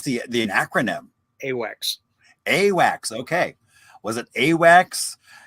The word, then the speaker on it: AWACS: How would you pronounce the acronym? AWACS.